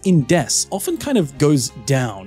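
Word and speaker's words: です: I just want to point out is his pronunciation here of death the s in Des often kind of goes down it doesn't get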